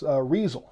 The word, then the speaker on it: Riesel: So it's Riesel. Okay, so that's how it sounds like that's how that's pronounced.